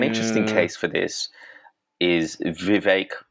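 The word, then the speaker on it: Vivek: case for this is Viv rhymes with cake ramaswami who initially supported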